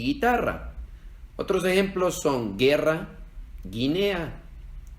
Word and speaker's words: guitarra: hay en el español porque si escribiéramos estas dos palabras sin la u se leerían mi gel y guitarra Entonces cuando se escribe G u e ig ui no se leen y we se leen como en Miguel y guitarra otros ejemplos son guerra